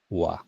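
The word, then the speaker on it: は: এরপরে আনাতার পরে হা দিলাম, মানে উচ্চারণ হবে ওয়া, ঠিক আছে?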